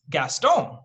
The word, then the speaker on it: Gaston: everyone's watched Beauty, it's actually supposed to be pronounced Gaston, right?